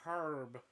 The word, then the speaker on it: herb: So I heard people pronouncing it herb before I saw how it was spelled, and I was like, oh, fucking H in there. I've been pronouncing it wrong. Gotta pronounce it herb. Herb, like Herb Powell.